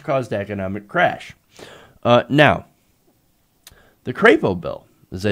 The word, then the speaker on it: Crapo: bill after Mike Crapo I know that's not how you say it it's Mike Crapo but I call him Crapo for obvious reasons would increase the threshold